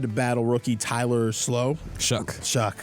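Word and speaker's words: Shough: Shuck. Why do you spell it like that? I don't know. That's English for you, man. No, but that's on me. That's preparation. I have a name that's not phonetically spelled right. That's fine, but English is dumb sometimes. How is that Shuck?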